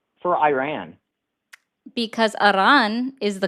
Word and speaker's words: Iran: Iran, is that me doing it with a Spanish accent, or am I just rolling my R's? Why would you roll your R for Iran? Because Iran is the correct pronunciation.